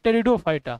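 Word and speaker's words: Pteridophyta: क्या होगा क्या बोलेंगे पेट उसको पी साइलेंट है इसको इसको बोलते टेरिडोफाइटा समझ गए इसका पी साइलेंट है इसको बोलते ड फाइटा समझ गए पेट मत बोल देना और यह वाला देखो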